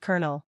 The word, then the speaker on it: Colonel: Colonel, pronounced Colonel.